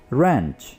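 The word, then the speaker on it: wrench: जोरदार झटके को हम इंग्लिश में बोलेंगे रेंच, रेंच। इसमें W प्रोनाउंस नहीं होगा।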